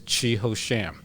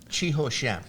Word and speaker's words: Chi Ho Sham: my card but actually if you want to pronounce my name correctly it is chiho sham chiho sham it's it's exactly what it looked like because I grew up